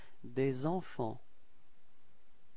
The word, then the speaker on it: des enfants: And then, first example, you will have to make this liaison as well, the small link between the words. So it's des enfants. Repeat. Des enfants. Okay, so final T and final S is not pronounced.